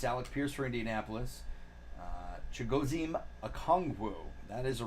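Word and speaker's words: Chigoziem Okonkwo: from the Saints Alex Pierce for Indianapolis uh chigozhim akongwu that is the right way to say it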